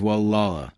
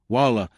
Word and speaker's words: Gualala: the winding two-lane highway, in a community most people mispronounce when they first encounter in print. It is Gualala, said "Walla."